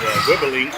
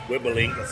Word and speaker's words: Wibbelink: That was Wibbling. It's WIBBELINK in his last name. If I'm saying that young man's name right. Wibbling, I believe is how you pronounce it.